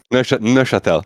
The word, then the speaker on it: Neuchâtel: So not only you are based in Neuchâtel, Switzerland, which I don't know if I pronounced correctly. Actually, did I pronounce it correctly? Neuchâtel. Neuchâtel.